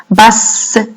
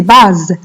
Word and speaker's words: basse: Basse. J'appuie sur le S. Vous allez écrire deux S. Si vous écrivez un seul S, ça va se prononcer base.